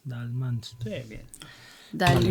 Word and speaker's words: Daelemans: quieres que lo pronuncie. Dalmans. Dalmans.